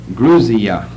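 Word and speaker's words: Грузия: eye is pronounced like a long e druzia grusia is a Soviet pronunciation for Georgia but it's spelled Georgia of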